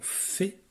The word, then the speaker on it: fée: Donc, dans la mémoire, on a le mot fée. Alors, je te rappelle que le mot fée, il y a un E muet ici à la fin, parce que c'est un mot qui est féminin.